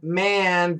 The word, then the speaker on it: man: Let's concentrate on M-A-N and M-E-N. Man. Man. M-A-N. You got to open your mouth up. It's a short A.